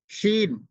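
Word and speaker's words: شين: এরপরে পরে যে উচ্চারণটি শিন, আমরা পূর্বের একটা অক্ষর চলে গেছে একই জায়গার, জিম শিন। তো এই উচ্চারণটা একটু শক্তভাবে উচ্চারণ করতে হবে।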